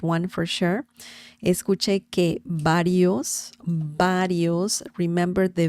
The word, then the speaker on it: varios: But if you want to nail the pronunciation, then the sound is very similar to B as in bell, bell. Varios means several.